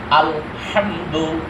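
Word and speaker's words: الحمد: যা পড়বে আমার ঐরকম পড়তে হবে ঠিক আছে আলহামদু আলহামদু আগে পড়ছি আলহামদু গম্ভীর আওয়াজে হামদু অর্থ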